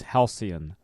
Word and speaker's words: halcyon: So to Brad, yes, it's halcyon.